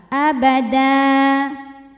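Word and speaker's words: أبدا: abada hukum tajwidnyaad wad jika berhenti karena ada tanwin fathah yang diwakafkan cara bacanya panjang dua harakat abada di atasnya ada tanda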